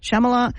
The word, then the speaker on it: Shyamalan: Because I don't really know how to pronounce it. Shyamalan.